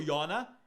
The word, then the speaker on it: Yona: Vamos estudar Jonas e Naum, ou como são pronunciados no original hebraico, Yona e Nahum.